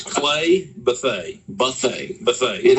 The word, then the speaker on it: Bethea: that that's b-e-t-h-e-a okay Buffet most people pronounce it Bethea that might be the correct pronunciation but whenever you're from uh North Florida South Georgia you know but they and that's how the family pronounces it so but uh Buffet